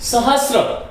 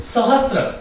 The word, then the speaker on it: सहस्र: इसी प्रकार से सहस्र, इस शब्द को भी मेरे उच्चारण को आप देखिएगा, ये शब्द है सहस्र। हम इसका लेखन करने लग गए सहस्त्र। मेरे विद्यार्थियों, सहस्त्र कोई शब्द नहीं होता।